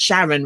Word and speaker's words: Charon: I think it's Greek, and so it's, yes, the way it's spelled. Well, you could pronounce it Sharon, but it's Sharon, really.